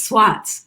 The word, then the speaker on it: Swartz: So yeah, and my cousins who live up there, their last name is Swats, but it's really Swartz, but they don't pronounce the R.